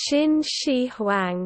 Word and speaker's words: Qin Shi Huang: Qin Shi Huang. Which I can assure you, as a British person, is exactly how it is pronounced.